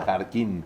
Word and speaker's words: Jarquín: ¿Jarquín se pronuncia? Jarquín. Es Jarquín.